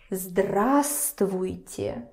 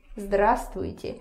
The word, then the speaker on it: здравствуйте: Just remember that here you for some reason don't pronounce this V. Okay, so здравствуйте. Здравствуйте.